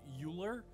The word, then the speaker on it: Euler: it was 2004 and found out that it is pronounced either way. You can choose to pronounce it either way, depending on what language you're speaking.